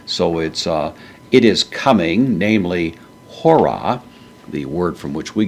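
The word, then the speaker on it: ὥρα: So it is coming, namely hora. The word from which we get the word hour means hour. In this case, the H sound is pronounced.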